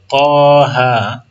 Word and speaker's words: طه: طه هر دو تا الف نداره لیکن با الف تلفظ میشه.